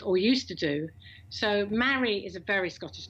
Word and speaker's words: Mari: No, Mary. Rhymes with Harry.